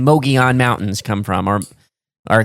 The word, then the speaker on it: Mogollon: And then I've heard people just straight up call this Mongolian. Yeah. Like, not like the country. Right. Mogollon. Yes. Which is a Native American name and term.